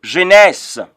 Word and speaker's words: Genèse: And so I'm having here Genèse. Genèse, if I were you, I would pronounce Genèse as G-E-N-E-S.